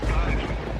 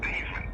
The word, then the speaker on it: Theismann: His name is actually Theismann. Oh, really? But for him to be a Heisman candidate, they named it the Theismann because it rhymed with Heisman. Instead of Theismann, it didn't rhyme with Heisman.